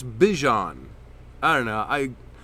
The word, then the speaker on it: Bijan: I know a lot of people say Bijan, but it's Bijan.